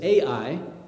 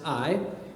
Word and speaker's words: Ai: you may read it in your Bible as AI in Hebrew it's actually pronounced AI but this was the second site that was